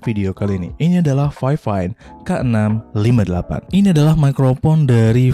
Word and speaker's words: Fifine: Tapi pronounce yang benar adalah Fifine.